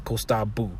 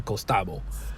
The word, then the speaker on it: costabo: So you say esakita costabu. So you write costabo, right? So you say esakita costabo. You write ta costabo, but when you write costabo, you're actually going to pronounce it costabu. It's costabu.